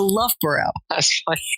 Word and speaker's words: Loughborough: last question if you could go back to Loughborough did I say it right oh sorry to love bro and do it all over again Dan but